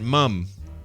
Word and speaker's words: ma'am: But why do they pronounce it mum? Because I swear they're saying mum.